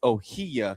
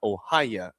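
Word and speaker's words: Ohiya: I was told in the notes how to say it, but somebody locally said it is pronounced it is Ohia Casino, not Ohaya at Tatanka.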